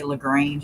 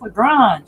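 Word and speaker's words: LaGrange: we go for competition they'd say lrange and I'm like it's l grung it's l grung we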